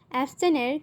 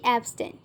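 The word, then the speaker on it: abstain: অ্যাবস্টাইনের correct pronunciation হচ্ছে অ্যাবস্টাইন। আমরা অনেকে অ্যাবস্টাইনকে ভুল প্রোনাউন্স করে থাকি, আমরা বলে থাকি অ্যাবস্টেন, কিন্তু এর কারেক্ট প্রোনাউন্সিয়েশন হচ্ছে অ্যাবস্টাইন।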